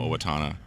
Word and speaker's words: Owatonna: Well, it helps that I lived there for 4 years, and I know Owatonna. Okay. Did you guys have a maid right in Owatonna, or not so much?